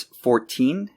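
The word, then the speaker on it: fourteen: The difference is that numbers in the teens are pronounced with a T sound, but multiples of 10 are pronounced with almost a D sound. So it's 14 and 40.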